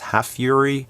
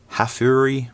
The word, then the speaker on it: Hafury: of Cubot called Hafury, which could be pronounced Hafury or Hafury, whichever way, it doesn't matter.